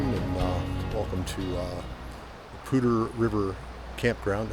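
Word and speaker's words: Poudre: Good evening everyone and uh welcome to uh Pter River Campground and I am pronouncing that right. I've heard three different people say it that way. Pter River uh that ran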